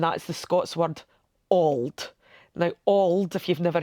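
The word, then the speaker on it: auld: English version and that is the Scots word Al now Al if you've never heard me say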